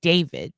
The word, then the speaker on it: D4VD: He's a um pretty big deal on Tik Tok and he's a musical artist named David, but his name is spelled with a four because art.